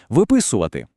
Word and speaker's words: виписувати: А от якщо питання, що робити, дія ще триває, то наголос тікає з префікса далі у слово виходити, виписувати.